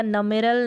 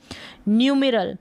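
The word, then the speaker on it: numeral: फिर यहाँ पर है न्यू, न्यू मी RAL रल, न्यूमेरल क्या है, न्यूमेरल्स को न्यूमेरल या नमेरल नहीं पढ़ेंगे, न्यूमेरल क्या पढ़ेंगे, न्यूमेरल।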